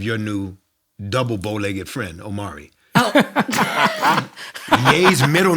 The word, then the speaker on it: Omari: saying that what uh rhyming with sorry is the middle name of yay which is the first name of your new double bowlegged friend omari yay's middle name uh-huh